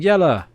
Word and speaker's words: Jelly: Jelly, pronounced like Yella. Yella. Oh, Yella. I was close.